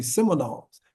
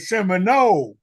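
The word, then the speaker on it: Seminole: e e m i n o l e seols just like Florida State seols that's the mascot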